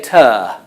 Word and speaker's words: tour: the pronunciation is changing some people say turn for tour but again Americans would say tour tour usually yes again it's the